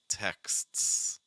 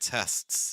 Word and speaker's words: texts: And then we have to add another S, X, X, texts, texts, texts. You have to be careful because if you don't add that K sound, you're going to get tests, and that's a different word.